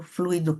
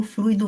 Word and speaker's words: fluido: No meio espírita, a gente encontra muita gente falando fluido, mas fluido é um adjetivo, é o fluido que já foi trabalhado, é o fluido que já foi modificado. Ele, no seu estado natural, a pronúncia correta é fluido.